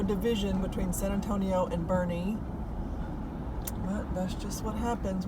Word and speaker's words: Boerne: state park I thought I would show you Bernie and if you're not familiar with it's b